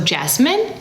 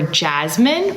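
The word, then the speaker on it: Yasmeen: So Jasmine or Jasmine or Jasmine, both of these pronunciations are correct.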